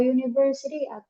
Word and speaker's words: university: Kalau seumpama sebuah university, berarti kalau kita buat university, kalau university ini masuknya kemana?